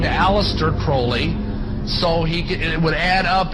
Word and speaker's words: Crowley: Aleister Crowley he likes to have his name pronounced Crowley to rhyme with Koli and the statements today